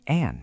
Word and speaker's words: Anne: She tried to say the maid's name but only produced a few faint indistinct sounds. "Hello," Melucine said with a smiling face, looking at the maid. The maid spoke. "It's not a, it's Anne, miss."